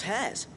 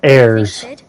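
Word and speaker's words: heirs: right we're Miss midal's hairs her hairs yeah hairs for the future she's showing us her Secrets now so we can help out the Hideway when we're older it's pronounced airs Are we almost ready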